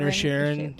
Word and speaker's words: Inisherin: He was in And Banshees of Banshees of Isherin. Inisherin.